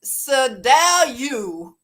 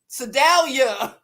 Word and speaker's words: Sedalia: Sir Dale you Sedalia did I say it right like a Missouri girl yay uh Sedalia